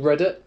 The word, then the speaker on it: Reddit: read it it's called reddit reddit yeah so i think it's spelt r-e-d-d-i-t read it obviously it sounds like you know read it like overready yeah yeah yeah yeah